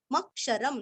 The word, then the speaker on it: मक्षरम्: सदसत क्षर मक्षरम मक्षरम म पूरा पढ़ के म के ऊपर आघात मक्षरम लास्ट में आधा म